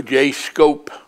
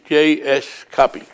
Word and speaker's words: J.S. Cuppy: J.S. Cuppy, or J. Scope. No, because of 2 P's. J.S. Cuppy.